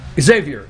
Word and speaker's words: Xavier: from california yeah he cannot answer how you pronounce it xavier xavier yes he cannot discuss abortion at all late